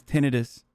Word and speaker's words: tinnitus: out that the way the proper way to say tinnitus is tinnitus military celibacy means this